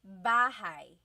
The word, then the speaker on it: bahay: You might notice that the spelling is A-Y at the end, so it looks like bahay, but it's pronounced bahay. That A-Y combination is bahay.